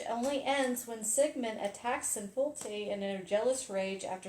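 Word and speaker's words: Sinfjötli: there's a story of Sigmund and his son Sinjolti. Did I pronounce that right? You've been playing with Sinfjolti. Sinfjolti, excuse me.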